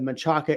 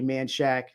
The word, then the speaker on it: Menchaca: investment property in the menchaca area sorry manshack texas man it's spelled menchaca okay i'm sorry i you